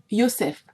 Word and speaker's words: Yosef: Yosef, prononciation gala de ce nom, car le J n'existe pas dans cette langue, vendu par ses frères